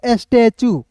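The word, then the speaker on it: statue: एस स्टेटू नहीं पढ़ेंगे। इसे पढ़ेंगे स्टैचू।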